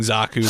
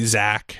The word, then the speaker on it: Zaku: So all of the pronunciations are very unusual because they're not, instead of saying Zaku, they say Zach, and they say Jean instead of Xian.